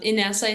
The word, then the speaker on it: Inesa: had a feeling you're gonna ask me to pronounce my name so I'll be happy to help in essay it's my first name and last name is